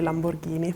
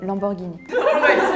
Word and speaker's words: Lamborghini: Italian and and German in Germany we say Lamborghini in English we say Lamborghini in Sweden we say Lamborghini in Spanish we say Lamborghini in Italian we say Lamborghini and in French we say Lamborghini very similar I think that's the beginning is